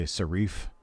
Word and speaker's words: serif: It's not sheriff, it's a serif. And then unlike some other people who have broadcasted in the past would call it a serif, there is no such thing as a serif.